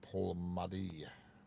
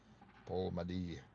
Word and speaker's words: Polmadie: Pronounced as Polmadie. Polmadie.